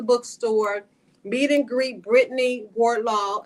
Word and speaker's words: Wardlaw: Meet and greet Brittney Wardlaw. Am I saying it right? Wardlaw? Yes. Wardlaw? Wardlaw. It's just two words.